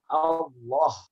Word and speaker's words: Allah: Pertama, tulisannya pendek bacanya panjang. Kita membedakan daripada lafaz-lafaz yang lain, Pak. Ya, karena ini lafaz Allah. Yang kedua, lamnya tebal.